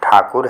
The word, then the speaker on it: ठाकुर: रवींद्रनाथ टैगोर हैं और इनका वास्तविक नाम रवींद्रनाथ ठाकुर है। कहा जाता है कि अंग्रेजी में ठाकुर का उच्चारण टैगोर हो जाने के कारण इनका नाम रवींद्रनाथ टैगोर प्रसिद्ध हुआ।